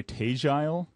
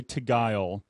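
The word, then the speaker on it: Tegile: say tagile it's t-e-g-i-l-e i want to say tigual together and he says we pronounce it like with a southern drawl and i would say oh you mean but he says something like uh tagile do you know these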